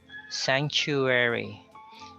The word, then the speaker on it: sanctuary: Just to remind you that you pronounce these word with the CH.